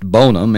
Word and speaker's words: Bonham: james bonham pronounced bonum in his native saluda county together with his boyhood